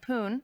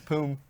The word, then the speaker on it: Poom: Your old teammate Poon just started his first. Did I say it wrong? What is it? How do you say it? It's Poom. Poom? Poom. I'm dyslexic. My M looks like an N.